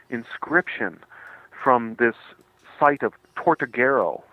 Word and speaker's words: Tortuguero: John, and that I believe once again the pronunciation is Tortuguero? Uh Tortuguero, yes, yes.